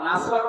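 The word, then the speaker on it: نصر: নুন সোয়াদ র নাসর মানে সাহায্য, আর নুন সিন র নাসর মানে ইগল পাখি। এখানে তেলাওয়াত যখন করবেন সোয়াদ উচ্চারণটা মুখ গোল করা লাগে।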